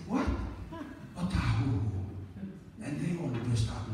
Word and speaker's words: Otahuhu: Otahuhu. And they all burst out laughing. So I said, well, that's a Maori name, and that's how you pronounce it, Otahuhu.